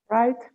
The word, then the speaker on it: right: If you have GHT, we don't pronounce GH, we pronounce only T. It's always like that. For example, Right. how do we pronounce it? Right.